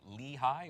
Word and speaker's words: Lehi: I think it's called Lehi. Is that how you pronounce it? Yeah, Lehi.